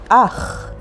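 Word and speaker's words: אח: Here's a great word, ach, which means brother, and it's spelled with alef and chet, ach.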